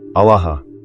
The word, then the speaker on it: Alaha: The word is Alaha. Say it quietly right now, just to yourself. Ah-la-ha. Three syllables.